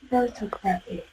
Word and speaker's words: photography: In phonology, you will know that, you will learn the rule that the stress falls before graphy.